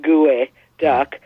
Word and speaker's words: geoduck: to try to make it sound more like gooey duck but it didn't look right if we go back to like how pronunciation changes because of what we're accustomed to